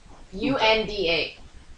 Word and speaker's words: Unda: U-N-D-A. Unda. Unda. Alright, fine. Whatever, however you pronounce it.